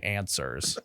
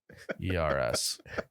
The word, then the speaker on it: answers: beers need some fucking answers. All right, It's ANS. ANSWERS. Answers. That actually would have been a great letter as a silent W in there.